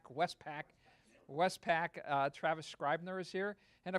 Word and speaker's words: Westpac: presentation is by Westpac I always get your name wrong Westpac Westpac Travis Scribner's here and of course Travis